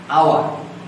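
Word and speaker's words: hour: আওয়ার, অ্যান বসবে। এই উচ্চারণটা হ এর মতো না হয়ে অ এর মতো হয়েছে, যার কারণে এখানে অ্যান বসবে।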